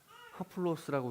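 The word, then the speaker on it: ἁπλῶς: 하플로스라고 읽는데이 풍성함이란이 하플로스라는 단어가 두 가지 의미가 있습니다.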